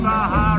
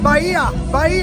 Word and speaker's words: Bahia: The tie-up between Baja and City. What was that like? Bahia, that's how we pronounce it, no problem.